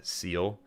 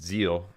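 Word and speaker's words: Seele: that are mad about my pronunciation of seal uh it's Zeal I do know that now I didn't know it was German actually I didn't know that's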